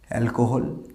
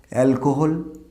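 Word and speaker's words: alcohol: আচ্ছা, ওয়াইনের একটা সিনোনিম হিসাবে বলতে পারি অ্যালকোহল। আমরা এটাকে এই ওয়ার্ডটাকে কী বলি আমরা দেখো তো? অ্যালকোহল না, দিস ইজ নট অ্যালকোহল।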